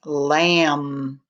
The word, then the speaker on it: lamb: k is silent and m b as in lamb the b is also silent all right we're also